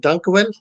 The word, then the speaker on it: dankjewel: How do you say, is it dankjewel?